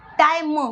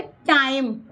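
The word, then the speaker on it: time: इसलिए टी आई आएगा और एम ई यानी म तो एम ई ए नहीं लगाएंगे आप ई क्या है ये टाइम मतलब धीरे से बोला गया एक सपोर्ट के एक शब्द लगाया जाएगा य पर शाब्दिक अर्थ र पर लगाया जाएगा तो य बोलेंगे टाइम ठीक है लंच टाइम ठीक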